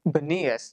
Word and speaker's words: Bunias: I guess Arabs have a hard time pronouncing the letter P. So almost anything that has a P in it now is a B over there because they had a hard time. So it's Bunias is what it got renamed.